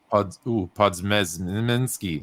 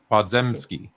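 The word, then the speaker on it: Podziemski: highest floor of all prospects Wallace GD or pods niminsky I can't say his name podzemski that's the guard yeah he got drafted by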